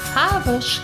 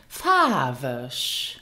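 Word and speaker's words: faarweg: The Luxembourgish word for colorful is farbisch. Now listen again to the pronunciation, farbisch. Did you hear that it is not pronounced as it is spelled?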